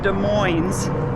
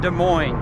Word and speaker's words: Des Moines: And yes, it is pronounced Des Moines in Washington, not Des Moines, because Des Moines is in Iowa.